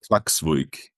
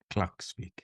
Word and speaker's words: Klaksvík: Yeah, normally we say KÍ, but the town is called Klaksvík. Okay, Klaksvík. Klaksvík. No, but the so Klaksvík.